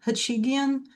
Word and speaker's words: Hachigian: Hey, so my name is my name is Jennifer Hachigian. My last name is a doozy, but it rhymes with comedian.